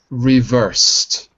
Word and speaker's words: reversed: Like reversed, right? We don't say reversed, we say reversed.